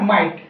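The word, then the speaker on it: might: कोई दिक्कत नहीं है वो जीएस क्या होगा आपका साइलेंट होगा एग्जांपल एम आई जीएसटी ठीक है इसे बोलेंगे आप माइट ठीक है g8 क्या हो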